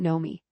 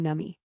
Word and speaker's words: Nomi: The second Nomi, he pronounces her name entirely wrong. Nummy, third, Stark, and the last two will belong to Queen Mer and Stermrost and Princess Sailor, respectively.